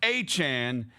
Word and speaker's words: Etienne: His name is Etienne? But it's spelled, that's how it's spelled though. It's just pronounced Etienne.